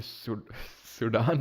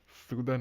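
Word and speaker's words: Sudan: पहले पता चला कि ये सूडान नहीं होता, सूदन होता है, इसको सूदन प्रोनाउंस करते हैं।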